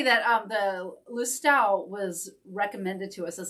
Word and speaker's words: Lustau: I'm sure I mutilated the pronunciation, but hi, Jamie. Good to see you. You say Lustau? Yes. That should be about right. This is a Lustau.